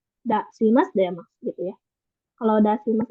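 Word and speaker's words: 出します: Kalau misalkan di depan masnya ada si-nya itu baru dibacanya Dasimas gitu. Kalau misalkan si-nya nggak ada berarti dibacanya Demas. Dasimas Demas gitu ya.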